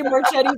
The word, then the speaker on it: Marchetti: I always say Marchetti too. That's so funny. It's Marchetti. Oh, wow. I like it, Marchetti.